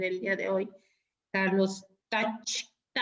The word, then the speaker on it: Tkach: día de hoy, Carlos Kach. Porque la T no se pronuncia.